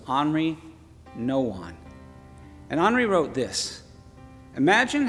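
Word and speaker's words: Henri Nouwen: it up you might you might see henry nouwen but i looked up the pronunciation listen to it's henry no one and andre wrote this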